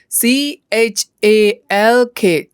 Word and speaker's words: chalk: blackboard ပေါ်မှာရေးတဲ့အခါသုံးတဲ့မြေဖြူဆိုတာရှိတယ်မြေဖြူကို English လို့ C H A L K chalk မြေဖြူ C H A L K chalk မြေဖြူဒီမှာသတိထားရမှာက L က silent letter ဖြစ်တယ်ဒါကြောင့်အတန်ထွက်တဲ့အခါ L ကိုထဲမဖတ်ရဘူးเนาะပြန်ပေါင်းကြည့်မယ် C H A L